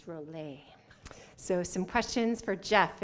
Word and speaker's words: Rola: time save money save the planet I'm Jeff Rowley and my company is go bio community fuels thank you awesome Jeff thank you and sorry I mispronounced your last name it's Roble so some questions for Jeff and his awesome